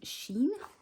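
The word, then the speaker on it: Shein: i had come from sheen somebody said to me yesterday it was the correct way to say it so these lush washi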